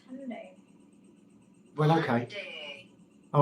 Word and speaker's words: Hyundai: It's The Y is silent. It's Hyundai.